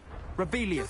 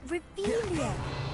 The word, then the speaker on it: Revelio: place where are you rebellious saying it wrong oh rebelia much better oh shut up wait